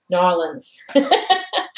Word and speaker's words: New Orleans: I'm pronouncing it like that. I sometimes say New Orleans and sometimes I say New Orleans, and you probably say it different. You probably say Narlins.